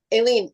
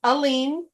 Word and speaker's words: Aline: Aileen, you have to. I never know if I'm saying your name right. Aileen. It's Aline. It Oh, rhymes with Celine.